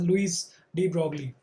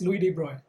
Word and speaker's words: Louis de Broglie: This is pronounced as Louis de Broglie.